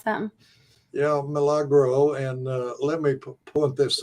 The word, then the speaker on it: Milagro: is it Milagro probiotic is that how you pronounce them yeah Milagro and let me point this out yeah but